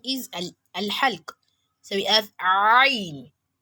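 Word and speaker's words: ع: So we have ain. People do mistake these for amza, which is pronounced as a. Here we have ain, ain, ain, ain, not a, not a, not a, but ain, ain, ain.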